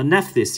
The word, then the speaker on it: Nephthys: more everyone always forgets the last one uh nephthys yes that's right nissarin kamal there it is